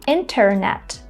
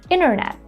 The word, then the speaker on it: internet: Instead of saying this letter T, they just drop it and say internet, interview.